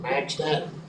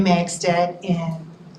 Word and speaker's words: Magstad: Magstad, is that pronounced right? Did I pronounce your name right? Yes, you did good. Thank you. Good evening. I'm Magstead on Peace Drive in Lake City, Florida.